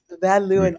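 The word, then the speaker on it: Van Leeuwen: I like I recall Vanuin. I like Vanu. Yes. Van Luin. I love how I pronounce.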